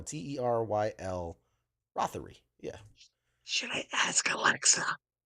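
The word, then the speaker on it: Teryl Rothery: I think it was Terrell Rothery. I want to say that's how you pronounce her name. Robbery. Terrell Rothery. I'm gonna double check just the Terrell. This is Terrell, Teryle Rothery.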